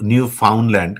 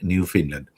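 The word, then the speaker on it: Newfoundland: নিউ ফিনল্যান্ড and Labrador প্রভিন্সটার বানানটা হলো নিউ ফাউন্ডল্যান্ড কিন্তু ওরা উচ্চারণ করে নিউ ফিনল্যান্ড।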